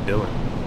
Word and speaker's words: Dalen: Oh, it's Dylan. Dylan? Yeah. Like, for real? Yeah. Even though it's spelled like Dalen?